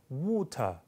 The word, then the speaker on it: water: 그러니까 water 미국식 water T만 둔탁하게 한다고 영국식이 아니라 앞에 모음이 입을 훨씬 더 둥그렇게 모아야 됩니다. 그래서 water, water, water 이렇게 이제 발음 차이가 나죠.